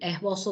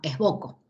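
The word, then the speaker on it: Esboço: patita, la C cediña, es una letra portuguesa que se pronuncia como la Z nuestra, por eso lo pronunciamos como esbozo y no como esboco.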